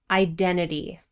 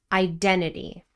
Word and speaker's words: identity: Identity, 4 syllables, stress on the second syllable. Identity.